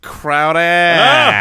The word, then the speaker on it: Crowder: a cheap shot alright so this one is pronounced Crowder yeah Jameson Crowder is going in the 8th round and I